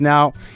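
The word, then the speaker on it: 円: course is Yen uh in Japanese pronunciation it's not Yen though it's n and I'll start off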